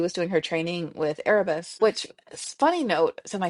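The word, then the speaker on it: Arbus: words on the page, she kept saying Airbus, like A R B U S. I'm like, who's Airbus? Oh, Arabus. She's like, oh, is that how you spell it?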